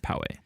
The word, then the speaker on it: Poway: and then poway or poe but you say poegians but it's actually called poway andy is learning so